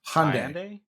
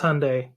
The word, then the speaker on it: Hyundai: Hyundai. It is Hyundai. And I have to give it to Anthony because he pronounced it right.